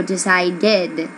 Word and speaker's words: decided: The third, decide. What do you hear? A D, so decided.